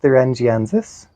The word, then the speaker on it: Bacillus thuringiensis: Their claims are: you can pick them off your plants, you can purchase or attract natural predators, you can apply Bacillus thuringiensis.